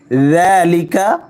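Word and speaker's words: ذَٰلِكَ: ওয়াজিব গুন্নাও হবে কিতাবুলাবা জালিকা জাল নরম করে উচ্চারণ করতে হবে জালিকা যদি আমরা বলি জালিকাল কিতাবু তাহলে ভুল হবে জিহ্বার আগা সামনের উপরের দুই দাঁতের আগার সঙ্গে লাগিয়ে নরম করে উচ্চারণ করতে হবে কিতাবু জালের উপর খাড়া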